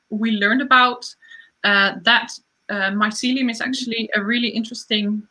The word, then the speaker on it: mycelium: way to say it the fungi i think mycelium is a good way to say it it's